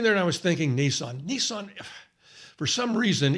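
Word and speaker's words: Nisan: it's the first month in the hebrew calendar nissan and that's how you pronounce it right strong's h 5212 nissan nissan nissan nissan first months what does that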